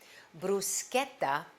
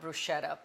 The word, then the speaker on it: bruschetta: And first thing, let's talk about the pronunciation. Bruschetta, not bruschetta, please. I mean, Italians from all over the world will be really sending you bad vibes.